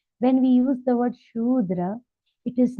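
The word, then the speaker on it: Śūdra: now very important here note the pronunciation of the word sudra it is sudra the word sh with a long sound Andra it is notra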